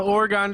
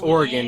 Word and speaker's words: Oregon: Playing the Oregon Trail. Oh, it's Oregon, not Oregon.